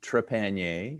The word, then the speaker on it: Trepanier: So my last name is pronounced Trepanier. It is a French name.